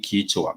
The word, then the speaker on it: kichwa: When you're talking about the head, like I said, the head is simply kichwa. The head is simply kichwa, and it's spelled Kichwa.